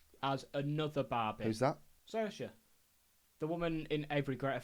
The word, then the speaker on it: Saoirse: Saoirse. The woman in every great film ever. Oh! Saoirse. I think it's pronounced Saoirse.